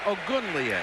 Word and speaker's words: Ogunleye: Let me pronounce his last name again. Ogunleye.